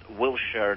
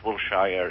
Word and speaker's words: Wilshire: passage from mr menken that boulevard is pronounced wilshere not wilshire if you'd like to